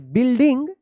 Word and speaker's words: building: यहाँ पे यू जो है ना साइलेंट है, बिल्डिंग.